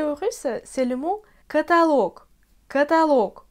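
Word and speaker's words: каталог: D'après les règles, c'est la voyelle O qui est frappée par l'accent. Mais parfois, les Russes emploient catalogue. Catalogue, c'est pas du tout correct. J'ai même du mal à prononcer tout ça. Et moi, je veux que tu apprennes la forme correcte, d'accord? Alors, on dit catalogue.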